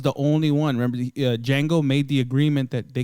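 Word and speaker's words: Django: save a Jango no did Jango the the D is silent no but they messed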